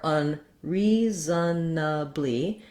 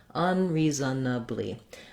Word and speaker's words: unreasonably: For unreasonably, you can say it with that schwa, and that would be 5 syllables. Unreasonably.